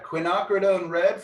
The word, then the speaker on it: quinacridone: Yeah, quinacridone red, for those of you who are taking notes, is spelled Quinacridone.